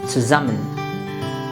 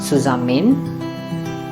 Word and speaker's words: zusammen: Same is the case with this word, zusammen. Yeah, not zusammen, zusammen.